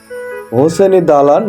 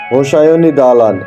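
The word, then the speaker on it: হোসায়নি দালান: শিয়া উপসনালয় এবং কবরস্থান বিকল্প উচ্চারণ হলো হুসনি দালান এবং ইমারতের গায়ে শিলালিপিতে ফার্সি ভাষায় লিখিত কবিতা অনুসারে উচ্চারণ হোসাইনী দালান এটি মোঘল শাসনামলে 1700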